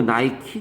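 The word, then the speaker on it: Nike: 얘는 나 있은 지 게 이해가 안가는 것 발음이 이놈의 그러면 나의 쎄게 아니고 나이 쓰고 여름엔 아이크 가 아니고 나이키 냐 지금부터 기억이 나네요 이 몰라서 이거 어떤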